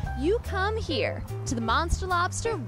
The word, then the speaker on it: Monstah Lobstah: of thinking it's not no no it's monster Lobster monster Lobster that's the New England accent right there what inspired